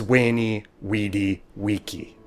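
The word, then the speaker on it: veni, vidi, vici: of this is why when Romans talked about conquering they said wink Ettie and wife caesar's phrase was wainy wedi vici now before you go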